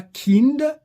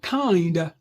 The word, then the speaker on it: kind: Dans un mot comme celui-ci, on dira pas kind qu'il n'y ait pas de voyelle. Hm. Dans les consonnes qui suivent euh enfin après les consonnes qui suivent le i. On prononce cependant kind hein.